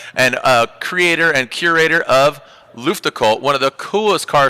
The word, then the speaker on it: Luftgekühlt: Luftgekühlt.